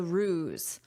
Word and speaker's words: ruse: After visitors publicized the ruse, okay, first look at this word, but listen to my pronunciation. Ruse. So, notice the sound is a z. A z r. Ruse.